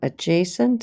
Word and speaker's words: adjacent: so by definition adjacent so the d is silent angles are two angles